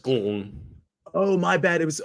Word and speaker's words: Glenn: I don't know what you're talking about, but the E is silent in Glenn. It's just Glenn.